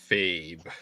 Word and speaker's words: Lefebvre: Fabe. That's how you pronounce that name.